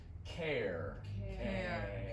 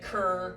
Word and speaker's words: care: So, right, it's really a diphthong. 2 vowel sounds together, together. That stuff you breathe. Anyway, so maybe that's an unfamiliar sound for you guys. Care. Right. And you said cur, which is pretty close.